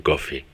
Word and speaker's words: Coffey: esto lo dice John Coffey, que a veces se pronuncia como el café, pero se escribe diferente.